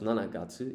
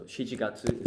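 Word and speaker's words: 七月: But it's not pronounced Nanagatsu. You use the Shichi, the other way of saying 7. So Shichigatsu is July.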